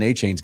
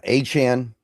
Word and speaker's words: Achane: He changes his pronunciation like every couple months, so I think it's Achane. That's what I've kind of adjusted myself to saying.